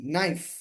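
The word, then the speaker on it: knife: তারপর খেই এন আই এফ ই নাইফ, নাইফ অর্থ কি ছুরি, চাকু, ছুরি, খে এর উচ্চারণ হয় নাই।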